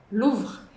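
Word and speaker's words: Louvre: Mu luv luvr. E aí a gente tem a parte mais desafiadora dessa palavra que é o v r e. O e do final a gente esquece.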